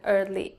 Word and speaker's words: early: in the first example the candidate pronounces women usually and early incorrectly English learners typically mispronounced these words because like many English words they aren't spelled the way they sound we will look at